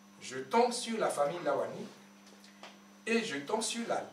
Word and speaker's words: Lawani: nom d'Afrique il s'appelle lavani ils ont écrit l a W A n i la France prononce V alors qu'en réalité c'est Lawani vous allez au Bénin